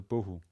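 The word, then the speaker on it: בֹּהוּ: word is bo bo the bet starts this word again again with a dot in it and hence it pronounced b rather than v followed by an o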